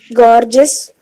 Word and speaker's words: gorgeous: can pronounce this word gorgeous gorgeous gorgeous okay so this word uh here in this word this uh peculiarity of this word is that the r sound is silent and the e